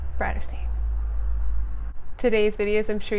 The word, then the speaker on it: Tarteist: If you've never been here before, hello, my name is and my channel name is pronounced TARTEIST.